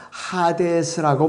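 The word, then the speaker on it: ᾅδης: 신약의 헬라어로는 하데스라고 발음합니다.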